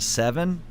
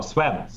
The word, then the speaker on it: Sven: I'm going to say, is it Seven? No, Sven. Sven.